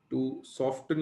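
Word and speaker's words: soften: What is the volume of a 2 normal Na2CO3 solution required टू सॉफ्टन, या कुछ लोग सॉफन कहते हैं, ज्यादा इंग्लिश प्रोनाउंसिएशन तो सॉफन ही है, उसमें टी थोड़ा साइलेंट हो जाता है।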